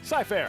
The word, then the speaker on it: Scyfare: And pronounce that first word for me. Scyfare. Scyfare. Like Cy Young.